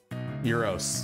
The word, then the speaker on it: gyros: of great is it is it pronounced gyos how's it pronounced Gyros that's not it right Euros yes that's it Euros yeah it's euros the problem is that